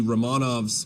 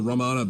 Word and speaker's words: Romanov: saris rule of the romanovs the ramana dynasty or romanov dynasty as it's sometimes pronounced finally collapsed and about